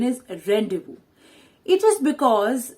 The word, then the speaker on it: rendezvous: actually the pronunciation is rendezvous it is because the pronunciation in french is not according to the spellings now this word means